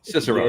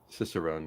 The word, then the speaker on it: Cicerone: Cicerone, thank you. I was just saying the C, but not pronounced hard. Cicerone, yeah.